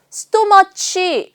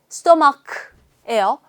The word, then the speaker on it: stomach: 스토머치 하시면 안 돼요. 스토마크예요.